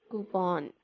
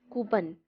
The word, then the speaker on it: coupon: We pronounce coupon. It's not coupon. A lot of people say it coupon, but it is coupon.